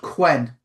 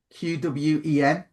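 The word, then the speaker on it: Qwen: Uh you can use there's something called Quen. Quen Quen.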